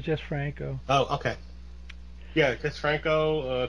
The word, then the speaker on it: Jesús Franco: Because it looks like Jesus. Well, it's Jesus, but he's also known as Jesús Franco.